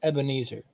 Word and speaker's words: Ebenezer: So it's often you're going to see it pronounced as Ebenezer.